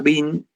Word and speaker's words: Wien: Y se pronuncia Wien como el tenista que perdió con Schwarzman se llama Dominique Thiem.